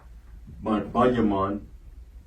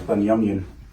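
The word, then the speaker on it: בנימין: Banyaman. All right. And Strong's H1144. Okay. Banyaman. That's plain and simple. Good. Okay. Or you can pronounce it as Banyamyan.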